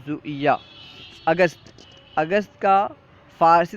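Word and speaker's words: ژوئیه: Zone کہیں گے۔ جولائی، جولائی کو زویہ، ٹھیک ہے، جولائی کو فارسی تلفظ میں اگر ہم ادا کریں گے تو یوں کہیں گے زویہ، جولائی زویہ۔ اگست، اگست کا فارسی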